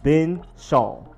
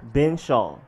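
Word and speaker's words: Benzschawel: with all of that for the last name it's just been Shan simple bow been Shawn bow been Shawn and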